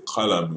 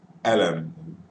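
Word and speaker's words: قلم: El su, we say like el souk or el su, but in colloquial we don't pronounce ka, like column. We don't say column, we say alam.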